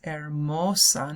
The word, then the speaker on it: hermosa: Esta playa es hermosa, ¿no? Es bonita, hermosa. Notice the H is silent again. Hermosa.